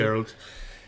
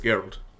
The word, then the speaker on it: Geralt: I don't know how to pronounce it. Geralt. Now that is the area that I think they can fuck up in, because The Witcher is Geralt.